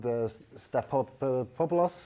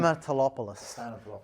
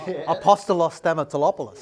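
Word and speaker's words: Stamatelopoulos: can they replicate or can they find Stapopoulos? I struggle to pronounce his name, but again, Stamatolopoulos. It took me all season to get that right. Don't worry. Let's get his first name. Apostolos Stamatolopoulos.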